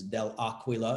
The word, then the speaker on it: Dell'Aquila: The Italian pronunciation is Del Aquila, it means of the eagle in Italian.